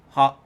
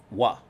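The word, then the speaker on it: は: Originally, this is pronounced ha, but when it's used as a particle, it's pronounced wa.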